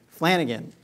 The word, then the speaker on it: Flanagan: How do you pronounce the name? Flanagan.